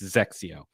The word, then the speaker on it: XXIO: The other one, Zexio. I understand. That's a tough one. XXIO. Saying Zexio is not the same, but it's Zexio. It's not Exio. It's not double Exio. It's not anything. It's Zexio.